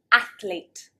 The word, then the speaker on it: athlete: Athlete. So there should be 2 syllables, athlete, athlete. Many native speakers will actually say athlete, athlete, adding another syllable.